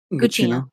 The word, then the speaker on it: Gugino: Gugino.